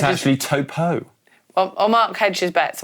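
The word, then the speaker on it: Taupō: It's actually Topo.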